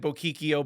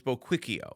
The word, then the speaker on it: Buquicchio: So, I have always said boikio, but it's boio.